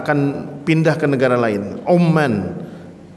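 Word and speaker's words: عمان: Umman huruf ainnya dengan dhammah. Umman berarti negara Oman. Tetapi kalau kita membacanya dengan fathah, Amman itu yang dimaksud adalah ibu kotanya Yordania.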